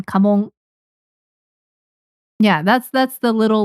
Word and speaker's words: kamon: Kamong. K A M O N. Kamong.